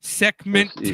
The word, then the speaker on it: Sekhmet: There is a temple out there called the Sekhmet Temple that is apparently, and it's spelled Sekhmet. Sekhmet Temple.